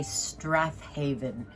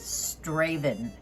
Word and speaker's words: Strathaven: what I would say Strathaven, and that is a place in Scotland, but Moose tells me that the real pronunciation of it is Straven, but it's spelled out Strathaven, and it is a Scottish clock.